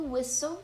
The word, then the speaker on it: whistle: Então, o T, ele é mudo.